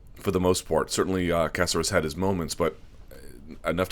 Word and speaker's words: Caceres: The main event, Yair Rodriguez in a featherweight contest taking on Alex Caceres. And everyone says Caceres, but I'm told it's pronounced much more closely to Casarez.